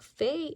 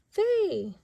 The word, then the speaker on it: Fay: And look, Fay ends in A-Y. Her name ends in A-Y for A. So F and A, Fay!